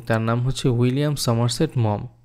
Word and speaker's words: Maugham: এই ছোট গল্পের যে লেখক তার নাম হচ্ছে উইলিয়াম সমারসেট মম। এই জায়গায় উচ্চারণ অনেকেই ভুল করে। এটাকে বলে অনেকে মুঘাম। আসলে এটা ভুল উচ্চারণ হবে।